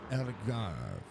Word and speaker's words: Algarve: The Internacional Algarve.